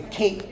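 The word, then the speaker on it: Kinh: The majority group is the King. If you've heard all this, you'll stop me, okay? King people, K-I-N-H, but pronounced like King John, and they're 86% of the population.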